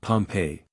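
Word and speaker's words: Pompeii: the buried city of Pompei they pronounce it pompe I always had an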